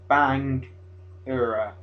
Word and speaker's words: Bangura: It's literally what, 7 letters? It's like the easiest word to say. Bangura. Just put them together.